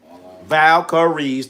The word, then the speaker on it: Valkyries: Caitlyn Clark got her ass whooped against the Golden State Valkyries. Valkareies. Three syllables.